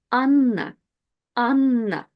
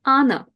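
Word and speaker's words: Анна: have a double n when you have a double consonant in Russian just pronounce it longer so if I had just one n it will be Anna but with two NS it's an an and then I think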